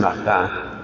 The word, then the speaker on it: Martin: El apellido de los papás se escribe Martín, pero pues en francés lo pronuncian Martin.